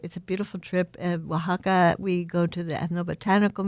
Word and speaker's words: Oaxaca: Because it does not get pronounced the way it is spelled at all.